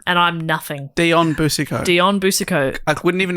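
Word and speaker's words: Boucicault: that that's the difference between and the great buso that's right that's why he's the greato that's why he's that we've all heard of exactly a household name and I'm nothing Dion buso Dion buso I wouldn't even know how to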